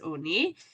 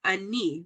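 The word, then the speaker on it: עני: Okay, we just know that the nikud is oni, the way it would be pronounced, but it doesn't have a vav. And without that vav there, you can read it as ani, which is a poor person.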